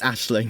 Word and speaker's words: Aisling: anetta joined the show how do you pronounce the actress's name for sarah ashling b it's like an irish name i agree with it it's ashling yeah okay ashley when annetta